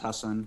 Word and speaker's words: Hasan: of black muslims named hassan they go sometimes h a double sam yep but the part you know in southeast asia where my family's from it's pronounced husson so yeah i just